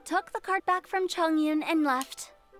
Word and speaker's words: Chongyun: Chongyun. Diese Betonung auf Chong. Und dann Yun.